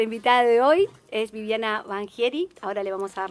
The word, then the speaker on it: Vangieri: Estamos con Viviana Banchieri, así se pronuncia, ¿verdad?